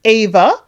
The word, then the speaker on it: Eva: so it's Evangelina Eva they pronounce it Ava um is short for